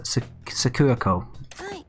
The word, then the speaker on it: Sakurako: You need to pronounce the name a little faster. Sakurako.